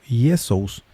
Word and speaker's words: Jesús: Jesús se pronuncia en forma muy parecida al griego yesous.